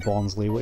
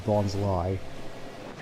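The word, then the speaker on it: Bonsly: I always called him Bonsley, even though it's supposed to be Bonsley. The pronunciation just never really sat right with me, admittedly, even though it makes a lot more sense given they're based off of bonsai trees.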